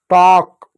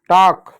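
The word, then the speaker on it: talk: गया काम हो गया, एल साइलेंट होता, कभी भी एल के बाद एम हो, एल के बाद एफ हो, ठीक है, एल के बाद के हो तो इन जगहों पर एल हमेशा साइलेंट होता है।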